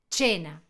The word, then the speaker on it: cena: En español se escribe cena en italiano, pero ¿cómo se pronuncia? Bien. Chena, ¿cierto?